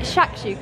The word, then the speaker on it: shakshuka: Is it shakshuka, yeah?